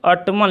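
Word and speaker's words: autumn: To ottoman लिखा था, तो ऑटमन को हम शुद्ध करने के लिए ऑटम लिखेंगे, यानी कि एन को हम क्या करेंगे, साइलेंट कर देंगे।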